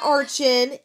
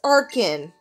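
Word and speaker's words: Archen: plume fossil into arkhan it is not archan it is arkan i'm not gonna lie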